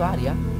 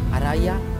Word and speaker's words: Aria: aspetta che ha detto aria quindi non si chiamava Ara ma aria Forse per questo STAV incazzato con me Ho pronunciato maale il suo nome quindi è aria Ah non aria comprendo